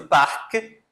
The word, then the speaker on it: parc: A letra C aqui, ela não é pronunciada, certo? Mas a letra C no parque, sim.